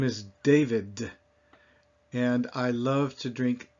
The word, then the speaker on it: David: But if I were to say those same 2 words in French, I would say David. And my tongue is flatter against the roof of my mouth or the back of the front teeth.